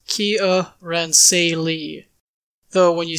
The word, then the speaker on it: Kiaransalee: realms names pronunciation entitles the official pronunciation here in say Lee is Kia ran say Lee though when you say